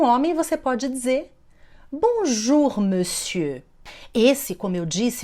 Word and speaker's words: monsieur: Não pronuncia aquele R no final.